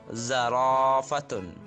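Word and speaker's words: زرافة: Jika ada fathah yang diikuti alif, alifnya tidak berharokat, ini dibaca panjang. Pada contoh ini ada zarafatun. Zarafatun. Zarafatun artinya ini jerapah. Ini bacanya zarafatun. Inilah harokat fathah yang diikuti alif dibaca panjang.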